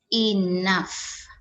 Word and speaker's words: enough: dan ini adalah phonetic transcription nya atau cara pengucapannya nah ini adalah artinya dalam bahasa Indonesia Nesya Nah jadi suhu-suhu Inaf i6x stiffly excessively season sekian Nah itu adalah